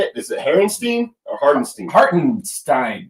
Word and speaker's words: Hartenstein: It's Hardenstein, right? Is that how you say it? Is it Herrenstein or Hardenstein? Hartenstein.